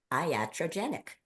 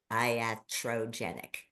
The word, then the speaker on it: iatrogenic: and it is the word it's a word iatrogenic I'm going to spell it for you it's i a t r o n e g n i c iatrogenic and if you look that up the definition